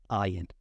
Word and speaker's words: iron: to be pronounced and should be I wrong but it's not it's the only word that does this but it's pronounced iron just iron of course there are